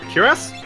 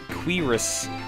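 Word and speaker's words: cuirass: How do you say that? Is it curious? Curious. C U I r a ss. Uh, or cur curus. That's cotton robe. Curus, I believe, is how it said. Quirus.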